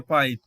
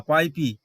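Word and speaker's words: pipe: নিজস্ব সাউন্ড হচ্ছে আই এখানে কিন্তু ই এর উচ্চারণ হচ্ছে না এর উচ্চারণ এমন করে হচ্ছে না পাইপি পাইপি না হয়ে এখানে হচ্ছে পাইপ অর্থাৎ ই এখানে সাইলেন্ট রয়েছে কিন্তু আগে যে ভাওয়েলটি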